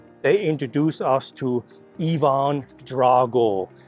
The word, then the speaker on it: Drago: And then they introduce us to Ivan Drago, or Ivan Draga, as the Russians pronounce it.